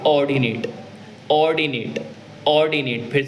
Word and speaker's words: ordinate: Axis पे होंगे इन points को बोलते हैं ऑर्डिनेट, ऑर्डिनेट, ऑर्डिनेट। फिर से सुन लीजिए, ऑर्डिनेट बोल रहा हूँ, ORDINAT। अच्छा, एक्स एक्सिस वाली को बोलते हैं एब्सिसा, एब्सिसा, इसको बोलते हैं ऑर्डिनेट, और इन दोनों के कॉम्बिनेशन को पूरे को